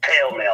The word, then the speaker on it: Pall Mall: The Pall Mall cigarettes. Every fucking body seems to want to pronounce that shit pale male.